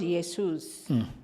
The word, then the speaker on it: Jesus: He's not called Jesus. He's called Yesus.